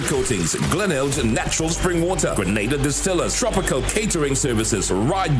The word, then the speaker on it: Grenada: So today, like we Germans say, we are in Grenada. But I heard in English it's called Grenada. Say it right. Grenada. Say it right. Grenada. That's right.